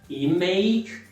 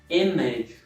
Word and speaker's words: image: Mas se tiver mais de uma sílaba, o substantivo ou o adjetivo, então, né, quando a sílaba tônica é a primeira, a segunda acaba suavizando, então não é image, e sim image.